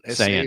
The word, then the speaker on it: Sayin: Do you pronounce it Sayin? Saying, S-A-Y.